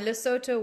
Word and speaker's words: Lesotho: don't even know what Lesotho is or where it is or how to pronounce it in my case you're fine lesoto works as well um and uh I